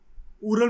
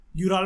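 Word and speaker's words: Ural: ये उरल mountains हैं, यूराल mountain कह लो, उरल माउंटेन कह लो, प्रोनाउंसिएशन से कुछ फर्क नहीं पड़ता।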